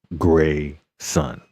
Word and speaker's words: Grayson: The name is pronounced Gray Sun.